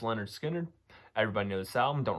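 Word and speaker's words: Lynyrd Skynyrd: you truly enjoy that Leonard Skynyrd's pronounced Leonard Skinner everybody knows Sal them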